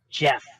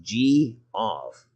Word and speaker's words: Geoff: Or is No, it- it's pronounced Jeff. Jeff. No, I've got it here. It's Geoff. That's G-off. Yeah, I don't care how it's spelled. I know what my parents named me, and it's Jeff.